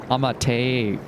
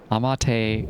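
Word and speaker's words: Amateria: It should be pronounced with Japanese vowels. A materia. Amateia. Amateia.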